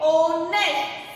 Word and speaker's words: honest: Some words begin with a silent H. So we can use an with them. So here we see the example. He is an honest man.